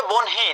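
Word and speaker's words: বহ্নি: বর্ণ শব্দের প্রতিশব্দ কোনটি উচ্চারণটা কিন্তু হবে বনহি।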